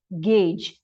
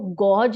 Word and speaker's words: gauge: जो हमारा next word है वो है गेज। GAUGE। हम इसको गॉज नहीं बोलेंगे। आप इसको देखिए लिखा है GAUGE, गॉज, लेकिन हम इसको प्रोनाउंसिएशन जो होता है वो क्या होता है? गेज।